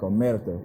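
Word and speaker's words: omertà: All so honestly, the actual word Omerta, they pronounce it correctly like Omerta. If you know how to roll your R's and stuff like that,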